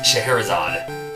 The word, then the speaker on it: Scheherazade: I don't know how to say it. It's Scheherazade. Scheherazade.